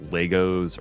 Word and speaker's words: Lego: Oh, it's Lego, not Legos.